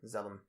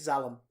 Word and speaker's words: Zalem: In the Wikipedia article, it's spelled Z-A-L-E-M. Zalem. It's Zalem. It's Zalem.